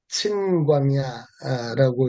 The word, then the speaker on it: 신광야: 민수기 20장에도 신광야가 나오는데 민수기 20장에 나오는 신광야는 친광야라고 이렇게 발음이 되고요.